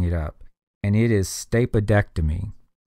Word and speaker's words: stapedectomy: stuck in there and that's primarily for sound or pronunciation because stap ectomy or stapa ectomy wouldn't really sound too good it'd be kind of hard to pronounce stapa ectomy so it's stapedectomy they stick that D in there between the two e and that is often